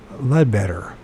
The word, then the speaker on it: Leadbeater: references of him in the book of Leadbetter, or Leadbeater, depending on which you pronounce it. Better, I guess is Leadbeater.